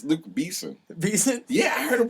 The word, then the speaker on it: Luc Besson: I'm pretty sure his name is not Luke Besson. I'm pretty sure it's Luke Besson. It's Luke Beeson.